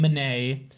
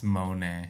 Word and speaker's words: Monet: It's like, okay, I got a reversed backwards green manet. And the pigeon's like, I studied this in art school. You said man. Mayonnaise. It's Monae.